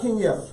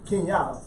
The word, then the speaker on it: Kenyatta: Kenyatta or Kenya? Kenyatta. Kenyatta. Yeah. Kenyatta. You gotta pronounce it right. Kenyatta. Kenyatta. Right. Oh, she put that hood term to it. Kenyatta. Kenyatta. It's Yada. Yada, baby. Yada.